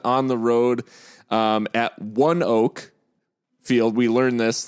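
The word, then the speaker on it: ONEOK: Field we learn this thank you to Kenzie AR for the uh for the pronunciation guide um from the C cuz I think we said anok we're like anok I said I might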